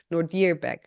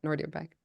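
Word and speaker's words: Nodirbek: correct pronunciation is actually n dearb the the the accent is on the deer ner back it's not Nord back so if I remember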